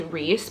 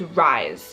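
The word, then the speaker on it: Rhys: One of the main characters' name is Reese, but he's a guy and it's spelled R-H-Y-S. So I like read it as Rise, even though literally my name is Reese. I read it and I'm like, that's not Reese, that's Rise.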